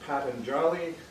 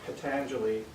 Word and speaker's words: Patanjali: And his name is either pronounced Patanjali or Patanjali, depending on who you listen to.